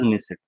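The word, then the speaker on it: Knesset: Name है, so that is निसे, ANESS, ये silent बोलते हैं, इसे निसेट बोल देते हैं।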